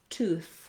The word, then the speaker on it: tooth: of the time, but similar words like breathe or teeth, when they have the voiced sound, they're going to be spelled with an E, versus teeth and tooth have the voiceless sound. There's no E after that TH.